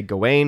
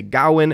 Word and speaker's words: Gawain: There are people who say Gawain, who say Gawain. It almost sounded in the movie like they were saying Garwin in certain ways.